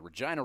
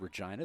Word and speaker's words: Regina: But, yeah, Mick Jagger, I believe, coining the phrase, Regina, the city that rhymes with fun.